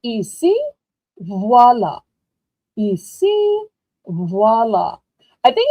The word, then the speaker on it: ici: In French class, we would say ici, voilà.